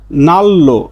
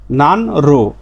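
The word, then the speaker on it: 난로: না হয়ে নাল তাহলে নিউনের পরে রিউল আসলে দুটাই ল হবে দুটাই দুটাই ল ল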